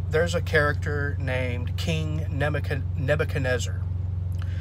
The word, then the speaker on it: Nebuchadnezzar: Okay, so in Daniel chapter 3, there's a character named King Nebuchadnezzar. It's a very long name, but yes, it's pronounced Nebuchadnezzar.